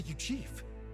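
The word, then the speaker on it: Eugief: didn't expect a yief he's a yief that's how you say it never seen one in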